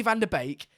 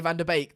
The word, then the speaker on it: Van de Beek: Everyone's getting in about how I say Van de Beek. That's just how you say it. Yeah, it's Van de Beek.